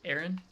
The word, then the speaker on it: Arran: Um but like So, you you pronounce the brand name Aaron Studios, right? Aaron? Correct.